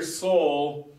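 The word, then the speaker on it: sol: used to singing uh this syllable right here Soul we spell it s so but most of the time we just forget about the L and it's kind of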